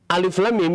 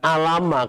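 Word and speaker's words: الم: Tapi bacanya diwakafkan di sini. Alif, lam, mim. Begitu ya. Bukan alama. Kalau alama itu kasih harokat. Ya. Alamaro. Tapi kita bacanya nama hurufnya.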